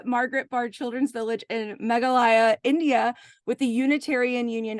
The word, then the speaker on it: Meghalaya: the m Mouse injury MGH yeah oh and meghalaya megalia thank you in Magalia India um so she co-founded the a Margaret bar Children's Village in meghalaya India with the Unitarian Union of Northeast India